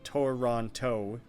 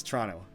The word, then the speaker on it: Toronto: r om t o so tour Ron toe Toronto literally no one says it everyone just says Toronto so it's it spelt out tour on toe everyone just guys says Tron Toronto like there's kind of